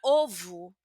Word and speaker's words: ovo: Entonces, palabras que terminan con o sin tilde van a tener un fonema como una u, una u suave.